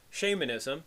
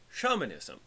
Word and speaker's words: shamanism: you pronounce it well the proper british pronunciation would be shamanism and the practitioner of shamanism would be the shaman now in american english there is another accepted pronunciation shaman so a shaman would be a practitioner of shamanism both the american and english conventions are technically acceptable pronunciations so one could say either shamanism or shamanism shaman or shaman however in academic circles you